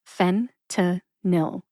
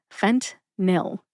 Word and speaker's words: fentanyl: two- syllable drug name fent nil that's fent which rhymes with dent and nil which rhymes with pill fent nil emphasize fent see if